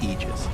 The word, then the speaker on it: aegis: frog made a point okay so the correct pronunciation technically speaking of ages is aegis this it's a literal word we're going to